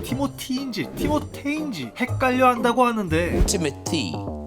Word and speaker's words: Timothée: 티모테인지 헷갈려 한다고 하는데 Timothy. It's pronounced Timothy. I always thought, I don't know if you guys, I thought it was Timotei because of the double E's at the end.